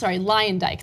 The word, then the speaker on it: Luyendyk: Luyendyk later, Luyendyk, that's how you pronounce his name.